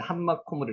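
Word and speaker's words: המקום: 여기는 하마콤으로 써놨는데 한마콤으로 읽으시면 됩니다. 자, 한마콤은 정관사 하에다가 마콤이라는 장소 명사가 붙는 것입니다. 그래서 이것을 읽을 때는 한마콤이라고 읽으시면 됩니다.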